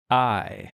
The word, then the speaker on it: Martini: Spelled You got- Martini. Martini. Martin. The I is silent. I'm going to put in parentheses the I, well, which I, the second I is silent.